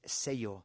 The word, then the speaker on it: sello: So you can just ask for the word for stamp in Spanish is sello, SELLO, but that double L is pronounced like a Y in English.